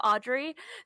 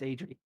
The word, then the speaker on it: Adri: She doesn't correct him, but she's too polite to say Adri instead of Audrey. So she That's that's JD DM. I know it's Adri.